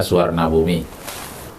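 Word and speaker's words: Suvarnabhumi: Orang bacanya Suwarnabumi tapi tulisannya safarabumi.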